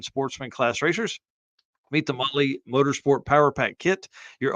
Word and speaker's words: Mahle: And for the podcast listeners, Motley is spelled Mahle. Motley is probably how it's pronounced in other parts of the world, but not here.